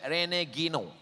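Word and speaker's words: René Guénon: o n Rene guenon cara bacanya Rene Gino Rene Gino apa nampak tulisan situ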